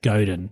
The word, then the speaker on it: Godin: the dip by sef i always say his name wrong he's seth godin not seth rogen seth seth goethe he's